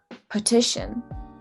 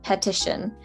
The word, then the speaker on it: petition: Petition. See a lot of people pronouncing this one as petition. You want to make sure that it's petition because it's soft in the beginning.